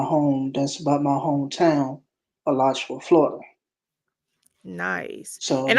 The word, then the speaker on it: Alachua: With that one that's called Alachua, Florida. That's Yeah, about my home. That's about my hometown, Alachua, Florida.